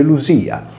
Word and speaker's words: Lydia: illustrare nella prima lezione, il nesso D più I più vocale all'interno di parola si leggeva come una S sonora. Poiché anche in questo caso troviamo la vocale Y, il nome latino diventa Ludia, confermata dal greco antico Ludia, che si legge Lusia.